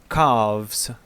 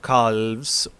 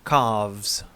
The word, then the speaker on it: calves: is uh pronounced as calves you don't have to pronounce the letter l here it is not calls it is carves playing with the calves watching the birds in